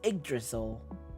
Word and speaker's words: Yggdrasil: Oh, it's pronounced as Yggdrasil.